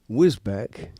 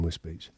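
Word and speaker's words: Wisbech: Whisbeck, which is actually pronounced Whiz Whizbe Beach.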